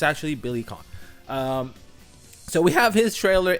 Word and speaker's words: Billy Kane: back, and it's not Billy Kane, it's Billy Khan. That's how it's pronounced. Don't ask me why. I understand there's an E at the end, it should be Kane, but it isn't.